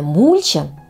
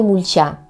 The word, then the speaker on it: мульча: в целях её мульчирования с ударением на первый а не на последний слов То есть правильно мульча А не мульча что ж друзья Вот